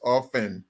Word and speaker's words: often: That word is often. The T is silent.